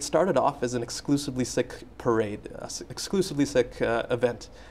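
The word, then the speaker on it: Sikh: the correct pronunciation is sick but uh because that sounds a little bit like sick like sick people have sort of changed that into seek but the correct pronunciation is sick now the trouble is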